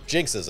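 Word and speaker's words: GN-X: The GNXs, or Jinxes, as they're pronounced in the English dub.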